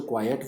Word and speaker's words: quiet: यहाँ पर जो क्वाइट वर्ड आया है इसकी स्पेलिंग होती है QUIET, इसलिए हम इसे क्वाइट कहते हैं य.